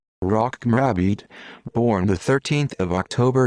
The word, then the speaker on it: Rocco Morabito: rocco morobito italian pronunciation rock mrabid born the 13th of